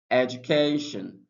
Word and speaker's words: education: For example, we have um education. So we have edge is pronounced louder than uh and also pronounced louder